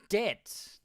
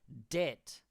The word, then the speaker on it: debt: What is debt? Now listen to the pronunciation. Debt. The B is silent.